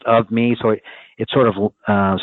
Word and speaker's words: OVME: start thinking about it of me it's pronounced of me so it sort of